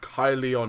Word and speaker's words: Caerleon: He called me over to Caerleon. Or Caerleon, if you're using the sort of modern or North Walian pronunciation.